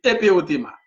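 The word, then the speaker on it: ἐπερώτημα: Je vais prononcer là comme ça l'écrit. Et, c'était français, c'est-à-dire éperothéma. Mais ce n'est pas du français, on dit éperothéma.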